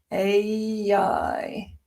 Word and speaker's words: AI: So it's a I but when you say them together you get um an intrusive y sound. Ai ai.